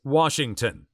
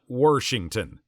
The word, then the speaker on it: Washington: It is Washington, not Worshington. My mom says washing machine, and I always ask her how to spell that.